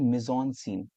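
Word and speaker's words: mise-en-scène: तो that is actually, उसको हम कहते हैं मिजॉन सीन। यहाँ लिखा है ना सेकंड वाला, जैसे स्पेलिंग ऐसे MISCN सीन।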